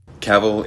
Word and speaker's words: Cavill: that many people cited Cavill is pronounced like travel travel travel maybe that